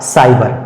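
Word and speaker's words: cyber: उसी तरह से सी के बाद यहां पर वाई आया, सी के बाद यहां वाई आने से सी का सही उच्चारण हो जाएगा सा, अर्थात इस शब्द का सही उच्चारण हो जाएगा साइबर, साइबर।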